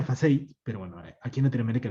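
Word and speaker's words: façade: Se pronuncia FACEI, pero bueno, aquí en Latinoamérica le decimos FACADE.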